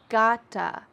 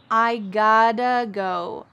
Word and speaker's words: gotta: And in American English, the T's change to a D sound. Listen when I say it. I gotta go.